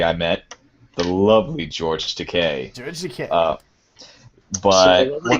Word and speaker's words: Takei: Remember, it's Takei, like to pay.